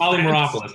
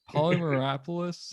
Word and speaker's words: Polymeropoulos: Polymeropoulos. There you go. Polymeropoulos.